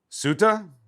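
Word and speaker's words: Ceuta: Cut ta. How do I pronounce this place? C E U T A C E U T A Pronunciation Suda Suda suda suda suda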